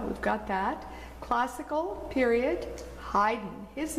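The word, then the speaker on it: Haydn: tricky one to spell people always want to put an extra vowel in there between the D and the end but don't do it it's just a CH a Y in German a Y is sounds like I so if helps you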